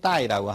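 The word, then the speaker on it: 歹: 뜻으로는 그래서 뼈가 앙상하다, 음은 알, 그리고 중국 발음으로는 따이라고 합니다.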